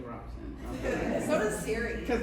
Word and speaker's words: Robson: Robson. I always say Robson. Okay. So does Siri. Because that's how it's spelled.